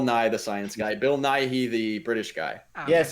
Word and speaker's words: Nighy: Not Bill Nye. Bill Nighy.